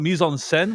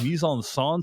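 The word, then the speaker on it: mise-en-scène: like he calls it he's talking about Mison senen which is how you pronounce it in French but he says Mison son so it's like well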